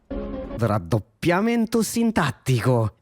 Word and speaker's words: raddoppiamento sintattico: Raddoppiamento fonosintattico, the full name, but he has a good, that's a good pronunciation right there. Let me hear it again. Raddoppiamento sintattico.